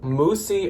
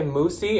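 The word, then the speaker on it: Moussy: up next up is one called moosie or mousy m-o-u-s-s-y here's the label let me know if you know how to say it i always say moosie and i swear i've heard moosie but then ryan said mousey i feel like it's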